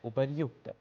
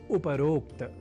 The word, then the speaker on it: उपर्युक्त: कर लेते हैं आरंभ आज के विशेष शब्द के साथ जहां हम सामान्य रूप से उच्चारण और लेखन में कर जाते हैं अशुद्धि और वह शब्द है उपरोक्त।